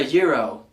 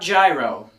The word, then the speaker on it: gyro: going to order a Euro not gyro let's be fancy people it's not a gyroscope or anything like that this is actually a foreign word intended to be pronounced as such number 20 Library not